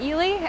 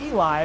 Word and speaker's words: Ely: So it looks like Eli, but it's pronounced Ely.